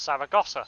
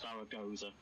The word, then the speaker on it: Zaragoza: What, Saragossa? Zaragoza. Yeah. Zaragoza, yeah. Yeah, whatever it's pronounced.